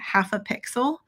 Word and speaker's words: Half a Pixel: So I'm using this brush called Azim, A-Z-I-M, by Half a Pixel. So she's a creator that I found on Instagram. It's half, Half-A-P-X. So half a pixel is how you say that.